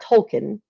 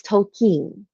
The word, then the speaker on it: Tolkien: pronouncing all my life wrong it is not Tolkien how I pronounce it because I'm a southerner and that's how we talk it is Tolkien so this little tidbit hint there in case